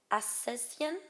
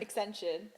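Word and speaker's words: Ascension: Is it Asesian? No. Accension. Oh, is that it?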